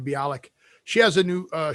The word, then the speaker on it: Bialik: but mayam bialik so that is how you pronounce her name bialik she has a new uh show out called